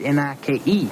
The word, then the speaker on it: Nike: It's Nike. It's N-I-K-E. It's pronounced Nike. Why do you pronounce L-I-K-E? Like? H-I-K-E. Hike. So N-I-K-E is... Nike.